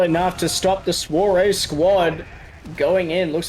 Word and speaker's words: Soirée: Is it Swar? How do you say that? Soirée.